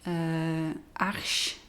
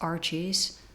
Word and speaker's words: Arches: For this painting I am using a hot pressed watercolor paper from the French Arche brand, but English people who speak English, they always pronounce it as Arches.